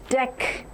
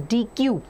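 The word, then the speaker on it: deque: So now it has to be pronounced in the way as deck not as dq deck.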